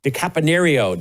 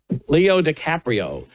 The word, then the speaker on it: DiCaprio: And that was starring Leo DiCapanio. DiCaprio. Leo DiCaprio. Is that how you say his name? Leo DiCaprio.